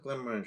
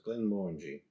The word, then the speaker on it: Glenmorangie: So what's Glenmorangie I always thought, but it's Glenmorangie, I believe is the correct pronunciation.